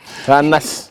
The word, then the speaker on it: Anas: Il faut prononcer comme ça. Anas.